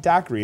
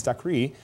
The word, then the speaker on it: Daiquiri: 7144 this is the I'm always pronounced incorrect it's not Daiquiri it's Daiquiri tours and U.S this is